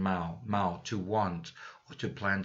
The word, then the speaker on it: mau: Say it like German mau, to want or to plan to do something.